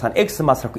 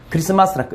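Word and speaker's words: Xmas: 근데 이 엑스마스라는 말은 엑스마스라고 읽으면 안 됩니다. 크리스마스라고 읽어야 되는데 왜 엑스라는 자체가 뭐냐면은 헬라어로 커스라는 뜻이거든요.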